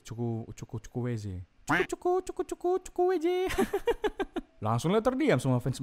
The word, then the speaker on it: Chukwueze: Ya kan betulnya bacanya ini kan? Chukwueze. Chukwueze.